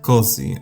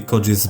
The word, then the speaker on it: Közi: And the O with an Omloud is not pronounced uh like it would be pronounced in German.